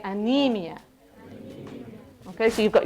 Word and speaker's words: anemia: Okay, I say, you say, anemia. Anemia. Anemia. Anemia. So you might look at it and think it's anemia, but no, we say anemia.